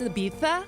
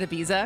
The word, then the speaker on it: Ibiza: going to be the jerk who's like, it's Ibiza instead of just calling it Ibiza because you're like forcing an accent even though